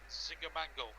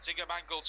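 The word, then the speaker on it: Zinckernagel: Ryan Yates looks towards Ziger Mangle. That's what we're going to pronounce him as. Ziger Mangle's cross towards the bar post headed away for a not forest corner on the far side.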